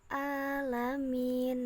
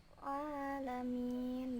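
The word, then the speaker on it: العالمين: Ain pada kata alamin seperti membaca dengan huruf hamzah hanya berbunyi alamin Nah itu ada perbedaan ya entar Hamzah dan main jadi yang menarik membacanya dengan huruf Ain jadi lebih tinggi di tenggorokan sini ya Oh Lamin bukan biasa alamin kesalahan selanjutnya ada di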